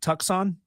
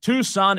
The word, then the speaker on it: Tucson: Is that pronounced Tuxon Tuxon?" You have your Tuxon. Tuxon A. Tucson, Arizona.